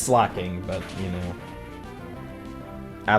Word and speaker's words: Slaking: Slash spinda and double kick slaking, which is pronounced slacking, but you know, I like saying things my own way because um I'm quirky like that or something, you know?